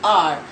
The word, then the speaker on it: hour: Now with silent H, we have to see and work on the pronunciation. There are a handful of words where we put an, but the word starts with H. That means H is silent. Handful of words, we'll start with that. An hour. I'll complete the work in an hour.